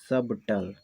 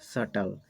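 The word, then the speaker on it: subtle: समय नहीं आता है इसको हम पढ़ सकते थे सबटल सबटल पढ़ सकते थे लेकिन यहां पर इस बीच के बाद आती है तो हम इस बीच का साउंड नहीं उच्चारण करते और इसको पड़ते हैं सटल यहां पर भी Dr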